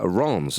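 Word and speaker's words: Reims: They beat uh Ron's as it's pronounced. Yeah, I thought it was uh Rem.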